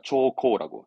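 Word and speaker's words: 朝貢: 초코라고.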